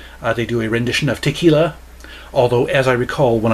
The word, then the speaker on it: tequila: do a rendition of tequila although as i recall when i listened to this the vocalist pronounced it taquila that's not how you pronounce it i'm a stickler for